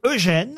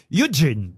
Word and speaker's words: Eugene: C'est vrai qu'on le lit Eugène, Oui. et qu'on devrait le dire quand on le lit dans la presse, mais là, évidemment, c'était le petit piège de la question, on devrait le lire Eugene.